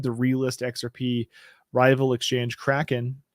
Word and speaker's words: Kraken: realist xrp rival exchange Kraken or Kraken as they incorrectly pronounce it if you pronounce that way made a similar announcement